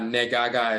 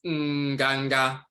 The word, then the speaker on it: nganga: That's why it's not negaga, it's nganga, to cackle, to quack,